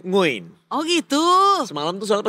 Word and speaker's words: Nguyen: kan lu tahu kan kalau orang Vietnat namanya semuanya nguyan kan ternyata dibacanya nguin.